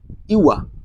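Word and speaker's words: you are: সেক্ষেত্রে এখানে কি হতো যে ইউ আর বলার সময় কেমনটি বলতে হবে, ইউয়া। ঠিক উচ্চারণটা এমন, ইউয়া।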